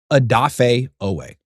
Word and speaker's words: Odafe Oweh: Odafe Oweh. Odafe Oweh. Okay? Odafe Oweh was with the Chargers this year.